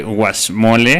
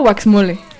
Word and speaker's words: guacamole: Oye, para este guacamole. ¿Es guacamole o waxmole? No cómo se sé, pronuncia. Abril. Guacamole. Guacamole. Guacamole. Bueno. Ya nos corrigió.